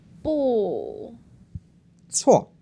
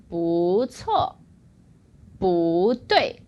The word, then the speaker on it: 不错: 不. 错. Oh, eh? So actually, he went to the second one, which is a tone variation. It changes into the 2nd tone.